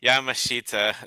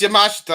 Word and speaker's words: Yamashita: or Yamashita are you Yamashita there you go I thought it was yamashta I don't know apparently there's a weird pronunciation and look at this